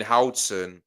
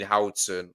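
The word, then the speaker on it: Huijsen: Dean Hson. Oh, is that how you pronounce it?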